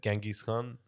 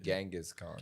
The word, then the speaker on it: Genghis Khan: I wanna be Human the- history, Genghis Khan.